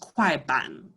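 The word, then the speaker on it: 快板: I always add an R at the end because I speak in that more Chinese way, but it's technically pronounced kwaiban.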